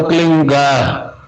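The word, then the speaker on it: क्लीं: ही मात्रा और बिंदी, उसका उच्चारण होगा क्लीन गा। गा की ध्वनि निकलेगी पीछे।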